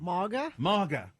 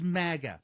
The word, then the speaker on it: MAGA: what must go is journalists pronouncing the first a in Maga like a in awesome ma maa no this is the very definition of polishing a turd it's Maga you know like maggot exactly and you know